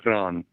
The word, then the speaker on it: Iran: It's Iran, by the way. But However you yeah, want to mispronounce it, I could not give a shit.